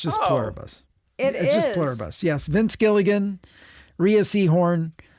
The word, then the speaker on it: Pluribus: No, I think it's just pluribus. I It's just pluribus. It's just pluribus. It's just pluribus. It's just pluribus.